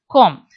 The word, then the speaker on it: cwm: four in the western com cwm should be pronounced as com cor means an enclosed armchair shaped hollow situated